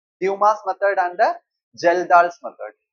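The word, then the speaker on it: Kjeldahl: Okay, so nitrogen estimation का दो method, एक है Dumas method and the Geldahl's method. A is silent, Geldahl, Dumas method.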